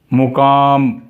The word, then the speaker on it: مقام: جذام، زکام، غلام، مدام، مقام، یہ میم پہ زبر کے ساتھ بھی درست